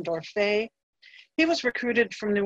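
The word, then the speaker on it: Dorfeuille: records to prove that some people pronounce his name as door for but I'll go with the French pronunciation door Faye he was recruited from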